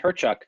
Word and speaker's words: Hyrchuk: into a microphone and my last name is pronounced herchuk so my kind of slogan branding is how